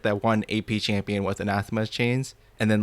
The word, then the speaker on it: anathema: first of all that it is pronounced as anathema and secondly that item is